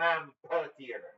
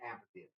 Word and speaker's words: amphitheater: at the light Ampitheater it's not an Ampitheater no no definitely definitely Amphitheater how do you spell